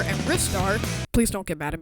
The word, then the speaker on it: Ristar: games like Sonic 3D Blast Sonic R and ristar please don't get mad at me for mispronouncing that I seriously looked that up and